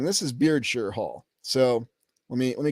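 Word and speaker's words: Beardshear: Yeah, Beardshire Hall. You're absolutely right, Samuel. Beardshire Hall. It's spelled like beard and then shear, isn't it?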